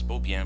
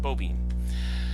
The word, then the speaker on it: Beaubien: developed over time but his last name is actually pronounced beaubien and that just kind of